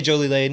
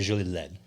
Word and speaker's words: Jolie-Laide: So we say Jolie Lane. It's anglicized. Jolie, if you were saying it correctly, we're saying it French. And what's what's the one you guys make? Otet. Autoet. Yeah, we make We have a few crazy French names we throw out there. If you were saying it correctly, you say Julie Le almost like Led Zeppelin.